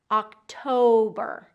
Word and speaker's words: October: We also want to make sure that we're getting that long vowel in the middle. Octo. So like a toe on your foot. October.